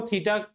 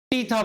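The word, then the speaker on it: theta: टीथा होता तो प्रोनाउंसिएशन ऐसा होता, टीथा, टीथा। तुम टीथा बोल रहे हो ना, ये नहीं है। प्रोनाउंसिएशन क्या है? आओ आज फोनेटिक्स का क्लास करते हैं। बोलो था, थूकना, थी, थियोब्रोमा, वहां से आया थीटा।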